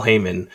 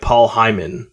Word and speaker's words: Heyman: dog on wrestling, the the most mispronounce mispronounced uh name was Paul Heymon. People would say like Paul Heyman. I'm like, "Oh, no." Like, "That's not exactly right."